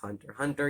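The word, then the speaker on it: Hunter × Hunter: i probably should say it is pronounced hunter hunter even though there is an x in the middle um that's because within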